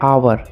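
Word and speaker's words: hour: First है आवर। इसको हावर ना पढ़ के आवर ही पढ़ते हैं। तो आवर का हिंदी उच्चारण अ से स्टार्ट हो रहा है, तो इसके साथ हम लोग एन का यूज करेंगे।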